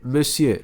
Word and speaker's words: monsieur: Repetir, monsieur. Só a escrita é bem diferente do que se pronuncia, né?